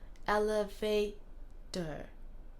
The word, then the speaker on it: elevator: C'est pas tout le temps, mais des fois, quand il y a un T au milieu, des fois, avec l'accent américain, on prononce le T un peu comme un D. Alors, c'est plutôt elevator, même si ça s'écrit avec un T. Et aussi, à la fin, le OR, même si ça s'écrit comme OR, on prononce le fin comme ER. Alors, ça se dit comme ça. Elevator.